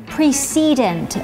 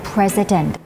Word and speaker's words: precedent: อ่าน ออก เสียง เป็น precedent แบบ คน อเมริกัน ก็ ได้ ค่ะ precedent หรือ ว่า จะ เป็น President ก็ ได้ ค่ะ เอา